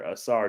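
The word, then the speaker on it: Ausar Thompson: Tim uh Ingram AAR I think it's assar Thompson assar it's assar assar Thompson uh Dwayne says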